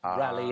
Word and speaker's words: Raleigh: his name cuz it it was rally and then Raleigh or Ry as you pronounce sir he added the